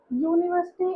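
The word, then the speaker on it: university: यूनिवर्सिटी और useful में ए क्यों लिखा है? क्योंकि जो साउंड है वो अ का नहीं है। वो यू का है।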